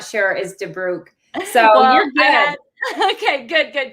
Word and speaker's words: Debrucque: Debrucque, but that is Debrucque. That is the common way to pronounce it if you're not sure, is Debrucque.